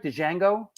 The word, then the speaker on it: Django: Box leads to King Django. Am I pronouncing that right? Django? King Django, yeah.